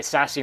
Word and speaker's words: SASE: secure access service edge abbreviated sase pronounced sassy now little did they